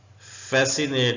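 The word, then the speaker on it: fascinate: ऐसे लिखेंगे मसल का मतलब होता है पट्ठे फेसिनेट सी साइलेंट है उर्दू में ऐसे लिखेंगे मोह लेना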